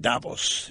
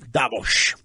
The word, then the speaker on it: Davos: this in Davos that's one now you're not Davos Davos like milosz Foreman it's not me Lowe's it's